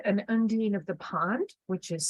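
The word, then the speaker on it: undine: Celtic uh terminology and undyne I I have my own pronunciation which I like which is undo so we have this individual and apart from um a particular say an undeen of the pond which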